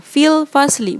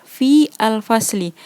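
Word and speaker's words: في الفصل: Tadi kakak bacanya disambung ya, fil fasli, bukan fi al fasli.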